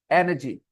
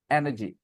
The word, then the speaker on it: energy: Stress first level पे है मेरे बच्चों. बोलो एनर्जी, एनर्जी.